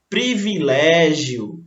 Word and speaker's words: privilégio: O som aí, que a pessoa errou, ela usou o E, mas na verdade a palavra é grafada, é escrita com I. Privilégio, tá certo?